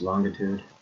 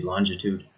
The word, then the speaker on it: longitude: before we start that sometimes longitude is pronounced longitude. I sometimes pronounce it both ways, okay, but same meaning. So again, it could be longitude or longitude, depending on who you're speaking to.